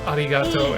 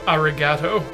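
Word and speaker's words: arigatō: which is why you get people who mispronounce arigato as arigato, because they don't know that the I is supposed to make an E sound.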